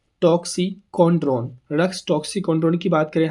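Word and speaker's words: Rhus: रास toxicodendron रस्स toxicodendron बातचीत। हम ये रहा रस्स, यहाँ 'H' है साइलेंट, एके हम रस हैं।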